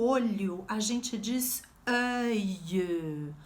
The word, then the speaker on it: œil: O olho a gente diz œil. Olha a minha boca aqui, como é que eu pronuncio? Œil. Tem que fazer esse formato de boca, porque a pronúncia é biológica, sabia?